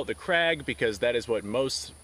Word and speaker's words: Krag: craig so apparently i was told the correct pronunciation is krog but for all intensive purposes i'm going to call it the crag because that is what most people in the